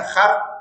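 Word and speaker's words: הר: En el punto, en el Strong hebreo 2022, que se pronuncia Har, es monte o cordillera de colinas.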